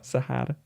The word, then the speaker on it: Sahara: And how do you pronounce that? Sahara. Sahara. Sahara.